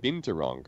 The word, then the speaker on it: binturong: what what you said you said binturong right now you said it right yeah that [ __